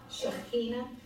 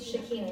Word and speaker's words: Shekinah: My question is, how do you pronounce S-H, apostrophe K? Shekinah, for those who can't do that, Shekinah, that's the glory of God.